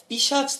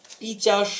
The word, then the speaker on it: পিশাচ: সময় দেখতে পাই যে পিশাচ থেকে পিচাস হলো যদিও বা এটা একটু অশুদ্ধ উচ্চারণ তারপরও ধ্বনির পরিবর্তন কখনো